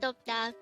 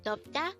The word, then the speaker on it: 돕다: combine the angle for each of these two syllables to form the angle of the word to once again the word DOTA means to help again DOTA means to help now let's try to look